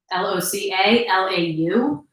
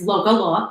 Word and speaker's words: LocaLau: You can find me on Instagram at Loca, Loca, and then it's Law, so it's just LOCALAU. Everyone pronounces it wrong. Loca Lou, Loca La, and it's Loca Law.